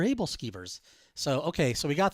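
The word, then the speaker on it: æbleskiver: I butchered the name I think I called it like AEL skivers or something and my wife says oh those are able skivers so okay so we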